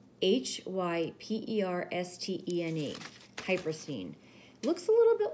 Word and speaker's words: hypersthene: stone is called hyperstein and I'm going to spell that for you it's h-y-p-e-r-s-t-e-n-e hyper scene looks a little bit like onyx um but